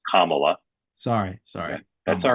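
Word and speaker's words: Kamala: polite and non-confrontational way I'll remind you her name is pronounced kamla sorry sorry that's all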